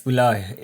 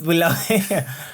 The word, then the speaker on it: Bulawayo: We just make it as Boo, as BHU. But then I figured that people are more, they care more about how the name is pronounced. Yeah, because it's Bulawayo. Like it's Bulawayo.